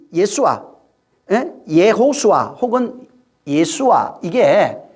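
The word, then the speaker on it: יְהוֹשֻׁעַ: 이 예수아는 사실은 그 구약에 보면은, 여호수아, 우리가 여호수아라고 읽잖아요. 근데 이제 원문에는 이게 예호수아입니다. 여호수아가 아니고 예호수아인데 이 예호수아로 예수아가 예호수아라고 하는 그 이름으로 예호수아라고 하는 이름에 대신 사용된 이름이에요.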